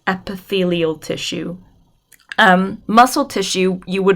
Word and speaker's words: epithelial: known as glandular tissue and we have it's pronounced epithelial tissue muscle tissue you would have hopefully remember